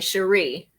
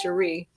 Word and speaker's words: Sherri: it and pronounce it it's cheri and everybody says sherry sherry but it's cherie i remember you saying